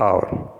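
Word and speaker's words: hour: करना है, क्या है, because the letter H is silent, क्योंकि यहाँ पे जो लेटर एच है वो हमारा साइलेंट है। सो the word are is pronounced as आर।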